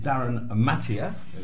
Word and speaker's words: Darryn Mathee: And we've got a gentleman here who knows all about it, Darryn Mathee. Did I pronounce that?